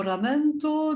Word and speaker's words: lamento: signe de linda mot lamento du coup de foudre alors pourquoi le prononce à l'italienne parce que le grand modèle c'est le poète pétrarque antérieure au poète de